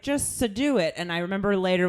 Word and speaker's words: Sadou: And I remember later when he corrected us, I had said both parts wrong. Yeah, I keep saying it wrong too. So I know it's not it's sh, and it's not Sadou. Because he said Sade. It's do. Yeah. So He like said Sade.